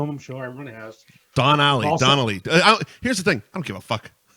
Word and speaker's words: Donnelly: It's Don Alley. Donnelly.